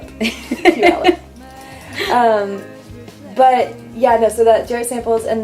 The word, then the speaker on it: Puyallup: Puyallup, yeah. I was like Puyallup, sorry. It's like pew like a church pew, and it rhymes with Gallup. Puyallup.